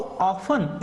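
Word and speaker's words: often: यहां पे आपको ऐसा नहीं बोलना है। हाउ ऑफन नहीं टी का प्रोनाउंसिएशन आपको साइलेंट रखना है। हाउ ऑफन इट मींस कितनी बार?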